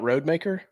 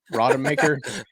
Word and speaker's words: Rodemaker: Hey, real quick, is that how we pronounce his name? Is that right? Rodemaker, yeah. It's not Roadmaker?